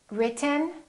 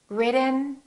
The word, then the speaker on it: written: how to produce it when we have a t followed by an n the t is held so we hold our tongue right here behind our upper teeth and we don't release it we smoothly just